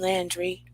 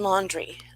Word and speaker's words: Laundrie: potito case and the brian landry laundry sorry i'm mispronouncing it brian laundry unfortunately it has been